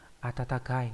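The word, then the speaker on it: 暖かい: Ví dụ trong từ atatakai là ấm áp.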